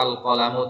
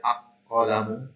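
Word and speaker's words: القلم: yang aliflam alqamariyah ya Kenapa alqolamu tidak dibaca aqolamu tapi dibaca l-nya ya karena qof ini adalah huruf qamariah ya Dari mana kita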